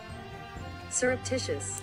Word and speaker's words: surreptitious: you say that word s pronunciation. I want the that is surreptitious.